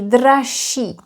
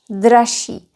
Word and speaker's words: dražší: Or, to be exact, because of regressive assimilation, ž becomes sh, and then that double sh is not pronounced as double sh, just one sh.